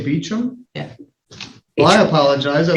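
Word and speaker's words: Bauch: be clear is it is b a u c h you say beum yeah well I apologize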